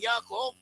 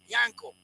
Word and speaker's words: Yaakov: So one of the names of pronouncing Yaakov is Yankov.